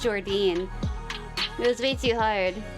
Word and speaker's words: Jordyne: Yes, yeah, Jordine, that's how you pronounce it. Jordyne.